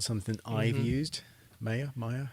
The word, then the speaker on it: Maya: Maya, how do you pronounce that?